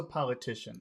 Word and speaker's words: politician: yes yes obviously yes in that word politician where's the accent politician that's four syllables how where's the accent politician so po po T TI Tish TI Tian okay t t the politician